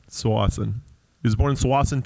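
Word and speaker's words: Tsawwassen: um matt where are you from exactly uh tawassen i was born in tawasan 200 million years ago was it called twice at the time well it's correctly pronounced swassen swassen he was born in swaziland 200 years ago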